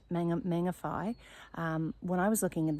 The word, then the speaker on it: Mangawhai: amazing place, and so the WH is actually pronounced fa, and so there's different places like Whangarei and Mangawhai.